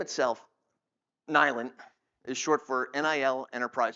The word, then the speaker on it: NILENT: Now, where we always get in trouble is everyone pronounces it NILENT, like it's silent with an N.